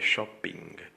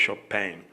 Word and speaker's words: Chopin: No es mi apellido, veamos, algunas personas me dicen padre shopping, pero no, yo no voy de compras, mi apellido es Chopin, así se pronuncia, pero dice que la